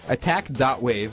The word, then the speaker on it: Attack.wav: Attack.wave, it's spelled W-A-V, right. Like a wave file.